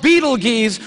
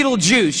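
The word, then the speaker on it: Betelgeuse: heard about this star it's called Beetle geese or be Beetle Juice you can pick your pronunciation I'm obviously going with Beetle Juice and Beetle Juice is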